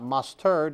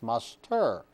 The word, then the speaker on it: muster: what we're talking about mustard in this case is actually mispronounced it's not mustard it's muster once again being a